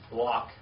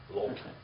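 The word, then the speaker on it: לָךְ: Lock. L-A-C-H. L-A-C-H. Lock. Or in the Hebrew, biblical Hebrew grammar is lock. Lok. All right, lock. Or lok.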